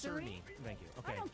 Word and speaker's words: Cerny: You know, the head of Mark Kearney came out today, and he said that Madam, 30 I believe FPS is janky. I believe it's pronounced Cerny.